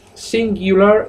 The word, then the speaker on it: singular: Bueno, los demostrativos, acordaos, singular se dice singu, no singu. La U se pronuncia iu. Y suena la palabrita singular.